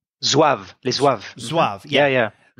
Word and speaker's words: Zouave: But we learn a little bit about, and I'm not sure how you pronounce it, Zouave? Zouave, les Zouaves.